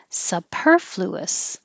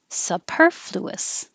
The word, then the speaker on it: superfluous: Not that I need to spell it very often, but the stress is on the second syllable, superfluous, superfluous, extravaganza, extravaganza.